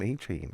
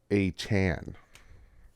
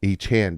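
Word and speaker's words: Achane: this is Devon uh I have to like consciously say his name I want to call him aain I like the name aain but it's uh a Chan a Chan Doug get a Chan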